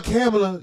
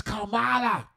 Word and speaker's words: Kamala: do that my brother don't call her camela you know she get mad with that I really I'm not exactly sure if I'm saying it right or not Cela kamla kamla Kamala is it kamla or Kamala either way it's it' be some black lady out there rolling her neck it is Camala it's c c my